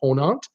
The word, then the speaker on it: Ponant: Like, for instance, I've mentioned this line before, Ponant, P-O-N-A-N-T, Ponant. They're from France. And I think in France, you'll pronounce it Ponant. You won't even mention the T.